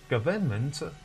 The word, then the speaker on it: government: pronounce this word is government a government it is pronounced government government sometimes n can be silent in some accents government in American and